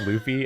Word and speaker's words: Luffy: I don't know why you said that like you're uncertain when we've said it's pronounced Luffy at least 1 trillion times since I In this mispronounced episode.